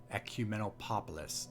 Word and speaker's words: ecumenopolis: Ecumenopolis. No, it's not pop. It's polis. Ecumenopolis. Why do they have to bracket the P with 2 O's?